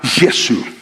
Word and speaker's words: Yesu: Nadie se llama a Jesús y se pronuncia la palabra Yesu.